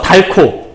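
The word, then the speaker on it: 닳고: 그 책은 달았어. 달코. 그럼 얘는 히읗과 기역이 합쳐지게 되면 달코라고 하는 이런 발음이 된다라고 볼 수 있겠네요.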